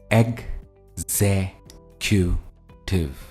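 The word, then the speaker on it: executive: सबसे पहला वर्ड है एग क्यू टिव हम इसको एग्जीक्यूटिव नहीं कहते ये है एग्जीक्यूटिव और जो स्ट्रेस है वो ज पर है तो अगर आप इस वर्ड का ब्रेकअप देखेंगे जो वर्ड हाईलाइट किया गया है उस पर हम स्ट्रेस देंगे अगर मुझे सेंटेंस में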